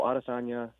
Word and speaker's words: Adesanya: Yeah, so Adesanya, A-D-E-S-A-N-Y-A, Sanya, and Costa, Costa.